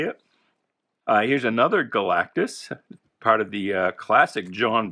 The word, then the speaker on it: Galactus: fantastic four 173 with galactus when i was a kid i used to add a syllable i used to say it galacticus i don't know why